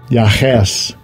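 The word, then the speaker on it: יחש: Yahes. Yahes. Right. That's the correct pronunciation.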